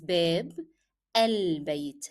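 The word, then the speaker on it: باب البيت: look on the transliteration it is babb el that's how you pronounce these two words together babb elb e here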